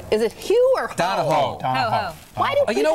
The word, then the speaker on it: Donahoe: He's known the guy since high school, and he mispronounces his name. It's Donahoe.